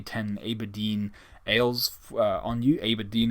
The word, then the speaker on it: Aberdeen: Aberdeen is a place, or Aberdeen, I think depends on where you're from, how you pronounce it. I think it's Aberdeen is how the Scots pronounce it, and it's Scot country up there.